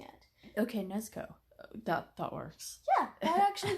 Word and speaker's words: Nezuko: Nezuko? I think when it's pronounced, the U is silent, but okay. We're still having problems pronouncing it. Okay, Nezuko.